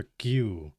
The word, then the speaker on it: queue: слово Q це черга Досить дивно воно пишеться єє але насправді читається як просто Q вона була на касі